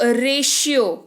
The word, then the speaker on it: ratio: इसको पढ़ते हैं हम लोग रेशियो। क्या पढ़ते हैं? इसको पढ़ते हैं रेशियो। यहाँ पर टी का उच्चारण जो है वो श के रूप में हो रहा है।